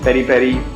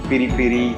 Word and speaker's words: peri-peri: There are different pronunciations: peri-peri, piri-piri, pili-pili.